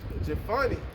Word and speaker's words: Jephunneh: say if Caleb the son of Jephunneh, that's how you say it, Jephunneh.